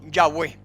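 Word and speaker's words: Yahweh: acuerdo general de que la pronunciación original debe haber sido yagüe su significado se asocia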